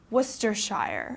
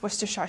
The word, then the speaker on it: Worcestershire: and for example my english teacher is from worcestershire okay this is also a sauce that's popular to put on steaks worcestershire sauce okay so make sure you pronounce it